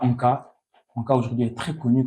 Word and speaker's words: Anka: bien sûr, il y a Anka.